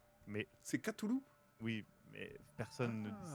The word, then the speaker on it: Cthulhu: Cthulhu ou Cthulhu?